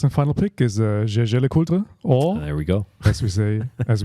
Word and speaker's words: LeCoultre: Jaeger LeCoultre. No, LeCoultre. The L is silent.